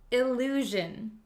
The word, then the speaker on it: illusion: it this word is illusion illusion illusion illusion it has the same sound measure illusion so an illusion is